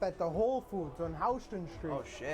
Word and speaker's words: Houston: fun fact about this Houston is actually spelled the same way as Houston it is but it's not pronounced that way whoa because New York